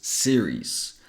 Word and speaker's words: series: the first one here only has two syllables series and this one Sirus has three syllables serious serious the first